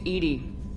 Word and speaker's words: EDI: have a specific inquiry why are you named Edie Edie is the phonetic pronunciation of e d that is an acronym